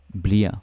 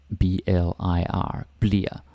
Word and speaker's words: bliver: Yeah, it's spelled bliver or bliver, but we almost never say that. Bliver, yeah, sometimes, but a lot of the time we pronounce it bliver, like kind of like this, B-L-I-R, bliver.